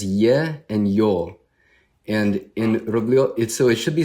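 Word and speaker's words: Рублёв: So it's spelled in America, it's spelled like Rublev, but it's Rublev because there are 2 letters in Russian. There's ye and yo. And in Rublev, so it should be spelled Rubylyov, because that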